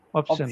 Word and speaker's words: option: It's not option, option or option, it's option. A simple shun sound. Option.